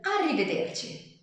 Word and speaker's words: arrivederci: Yeah, I know that pronunciation is difficult. Arrivederci. Arrivederci.